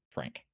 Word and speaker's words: Phranque: But it's if you look at the description, it's spelled PHRANQUE. Frank.